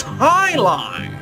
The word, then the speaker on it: jai alai: the bellows bloodhounds heck jai alai it's pronounced high-low what the heck is